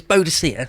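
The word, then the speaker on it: Boadicea: no no no no so it's it's bodocia for me but i think i think they do agree you're supposed to say boudicca now but isn't it a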